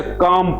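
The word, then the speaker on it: calm: काम पढ़ेंगे।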